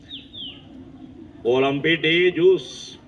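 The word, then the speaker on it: Olympe de Gouges: अब कई नाम से उसका मैंने प्रोनाउंसिएशन सोचा कि देखूं कौन एग्जैक्ट बढ़िया प्रोनाउंसिएशन है, लेकिन प्रोनाउंसिएशन में डिफर करता है। ओलंपे डे जूस, ओलंपे डे जूस, ये प्रोनाउंसिएशन मुझे ज्यादा अच्छा लगा, ओलंपे डे जूस।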